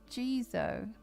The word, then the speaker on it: Jizo: So, I didn't say it right. That Who knew that there was a third way? Gizo. Okay. Jeso statues are made out